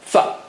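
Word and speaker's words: ف: Fa. Fa. Okay, fa. How do you say fa? Touch the lower lip to the edge of the upper teeth.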